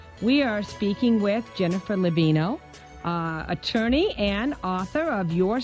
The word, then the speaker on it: Laviano: Just because my father would probably insist I'd say this, that, it's Laviano, and it's always butchered by people, so don't feel badly, but that's the Thanks for the pronunciation correction.